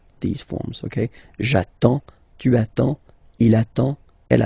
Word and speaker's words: attends: So the first form will be j'attends, j'attends. Okay, you get D and S, well basically you don't pronounce them, okay, and then you get only the sound attends, nasal here, en, j'attends, okay.